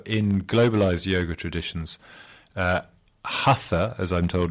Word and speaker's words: hatha: yet formulated but the the fact that it's pronounced hatha in uh modern globalized yoga as opposed to the word hatha as it is in uh in sanskrit uh